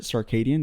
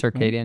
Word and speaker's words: circadian: sadian cycle right I think that's the word circadian that's how you pronounce it circadian yeah from circadian right which is basically your